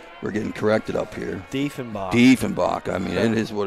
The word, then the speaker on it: Diefenbach: Diefenbach is how they pronounce. I'm sorry. We're getting corrected up here. Diefenbach.